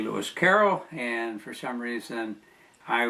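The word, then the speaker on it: Lewis Carroll: I in this case I mispronounced the author of Alice in her two books um his name is really Lis Caroll and for some reason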